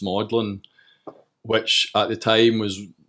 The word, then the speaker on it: Magdalene: up just through freaky bizarre circumstance and misinformation madlyn College it's actually spelled Magdalene bits pronounced maudlin which at the time was maybe the last